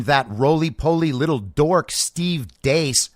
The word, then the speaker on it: Deace: roly-poly little dork Steve Deace. I'm told his name is Deace, by the way. I have a very astute listener who corrected my pronunciation on that. It's not Steve Deace, it's Steve Deace, apparently.